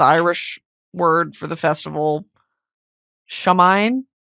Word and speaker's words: Samhain: In ancient I'm going to mispronounce this and I'm sorry. It's the Irish word for the festival Samhain s a m h a i n Samhain festivals bats would swoop over blazing fires to eat the mosquitoes.